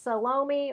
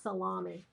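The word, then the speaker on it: Salome: I've heard it both ways. Salomi or Salom. Not Salami.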